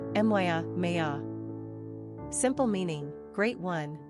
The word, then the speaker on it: Maia: Pronunciation, Miah, Miah.